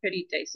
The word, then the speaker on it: pedites: it's on the E. Pedites. The Pedites. I is not long, so the accent goes on to the um, third syllable Okay. from the end.